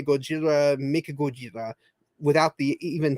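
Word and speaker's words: ゴジラ: print not in speaking when you speak it in Japanese you would say Gojira Thai Mika Gojira and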